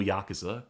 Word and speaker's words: Yakuza: And remember, this is a 2005 release, so when did the first actual Yakuza come out? Sid says this was published in Europe, so it's pronounced Yakuza.